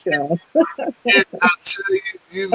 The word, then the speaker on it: Sheryl: I want to make sure the pronunciation of the name is correct. It is Sheryl, right? Yeah, well, I'm a Bostonian, so I'm a little hard on the R, but yeah, it's Cheryl.